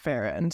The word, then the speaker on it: Farrand: hers who who did verify that Beatrix pronounced it faen so that's what we